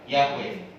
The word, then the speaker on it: Yahweh: Ya, bahasa Ibrani menyebut Tuhan, menyebut Allah itu pakai 4 huruf ini. YHWH, kepanjangan menyebut YHWH. Makanya pengucapannya diucapkan dengan bahasa Yahweh.